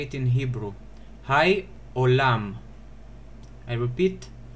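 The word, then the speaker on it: היי עולם: Hai olam. I repeat, Hai olam.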